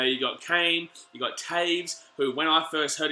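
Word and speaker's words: Toews: If you go and try and say it right now, you'd think Toes. But no, it's actually Taves.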